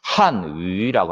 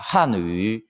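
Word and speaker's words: 汉语: 중국 발음으로는 한위라고 합니다. 한위.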